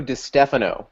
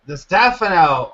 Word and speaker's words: Distefano: But please, everyone, welcome I'm never going to say it right. Distefano. Is that how you say it? It's Distefano. Distefano.